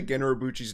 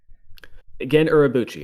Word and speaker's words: Gen Urabuchi: Yeah, we should just say Gen Urabuchi's name wrong every time we say it. Gen Urabuchi, okay.